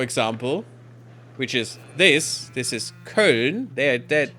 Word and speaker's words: Köln: to, I don't know, anything else, you know, Köln, for example, which is this is Köln. They're Köln. It's not Cologne. That's wrong. It's not the name. It's just some English nonsense that they made up. It's Köln.